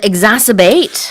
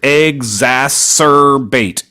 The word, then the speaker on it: exacerbate: And exacerbate. Yeah, this is a fun word. Exacerbate. Exacerbate. So 4 syllables there.